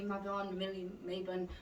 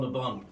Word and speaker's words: Mabon: We don't quite know how to say I it. think it's called Mabon. Mabon, all right. I used to work with a lady called Mabon, and it was spelled like that.